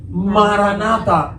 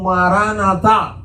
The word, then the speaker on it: maranata: lo primero cristianos usaban la expresión aramea maranata o maranata es la pronunciación más cercana a la original Qué significa el señor